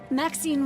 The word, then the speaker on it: Maxine: Maxine rhymes with queen after all and dearest.